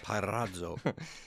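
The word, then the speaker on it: πειράζω: G3985, Pyrazo. Pyrazo. That one is tempt. I knew how to pronounce that. Did you? Go ahead and pronounce it. Parazzo.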